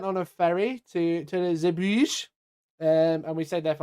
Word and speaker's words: Bruges: The Bruges. There you go. Isn't it Brugge? Probably. But I've always thought it was the Bruges.